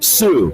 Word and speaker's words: Tsu: Winning videos will be streamed on the social media platform Sue, that's spelled TSU, and the overall winner